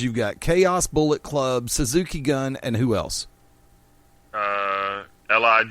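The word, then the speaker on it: Suzuki-gun: and I know that it's pronounced Suzuki gun not Suzuki goon Suzuki goon Jim Ross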